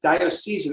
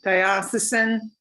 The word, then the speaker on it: diocesan: the bridgeport roman catholic dire season i don't even know if i'm pronouncing that right diocesan corporation right diocesan thank you yeah thank you i